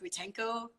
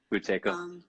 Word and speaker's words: Buteyko: And she was like she was like hyperventilating essentially, and had to learn how did I pronounce it? Butenko breathing. Buteyko. Yeah. Yeah, and getting into that helped her more than anything else.